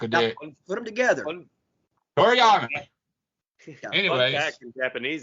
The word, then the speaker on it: Toriyama: You said it wrong again. God damn it. Don't disrespect the good goddamn name of Akira Toriyama, sir. Toriyama. See? Say it with me, Shane.